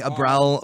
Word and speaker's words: Abriel: what did you say my parents call me Abell but I pronounce it abriel to be different captured Abel's fancy I